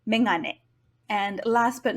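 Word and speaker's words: めがね: However, since the sound is not the first in the word, it should be megane.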